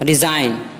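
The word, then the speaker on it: resign: رہے گا، سائن دستخط۔ ریزائن استعفیٰ دینا، دیکھیے اس میں بھی این سے پہلے جی ہے لہٰذا جی خاموش رہے گا، ریزائن استعفیٰ دینا۔ ڈیزائن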